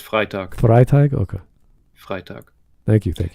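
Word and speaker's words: Freytag: pyramid Freight thank you I thought I said frga I don't know why no it's it's pronounced frag frag okay frag thank you thank you um but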